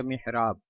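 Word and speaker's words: محراب: Meme के नीचे ज़ेर, हा पर जज़म, रा पर ज़बर अलिफ के साथ और बा साकिन, यानी मीम हाजिर मिह, रा अलिफ ज़बर रा, बा साकिन मिहराब। Spelling MIHRAB मिहराब। सोती खसूसियत, बोलने और सुनने में ये खूबसूरत नाम है, अलबत्ता तलफ़्फ़ुज़ के हवाले से अक्सर लोग महराब बोलते हैं, यानी मीम की ज़ेर वाज़े अदा नहीं करते।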